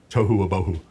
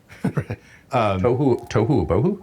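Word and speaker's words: תֹהוּ וָבֹהוּ: is formless and void in Hebrew it's tohou abu toouhoo Bohoo toouhoo. Yeah, it rhymes and and it means basically it's formless or chaotic.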